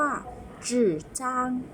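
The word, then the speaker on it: 纸张: ชื่อ ช่อง ชื่อ อะ ห่อ ลิ้น ด้วย ตัว Z H ให้ อ่าน ออก เสียง จอ จาน ห่อ ลิ้น นะ คะ คือ มี เสียง ที่ 3 ก็ คือ เทียบ เสียง คือ ไม้ เอก เนาะ คือ ช่อง ชื่อ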